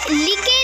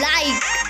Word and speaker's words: like: Hate, लिके नहीं, लाइक, लवे नहीं, लव, प्लीज़े नहीं, प्लीज़।